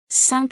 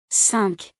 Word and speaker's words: cinq: Before a consonant, K is pronounced. Example: Cinq citrons. Cinq citrons. when counting or alone. Cinq.